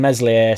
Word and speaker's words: Meslier: According to the Daily Mail, Leeds could be open to selling Meslier Silent S in January, which will be music to everybody's ears, I've absolutely no doubt.